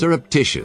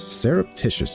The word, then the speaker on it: surreptitious: Serreptitious. Serreptitious.